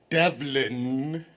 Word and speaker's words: Devlon: a compliment so tell the people your name Devlin is that how you say it yes water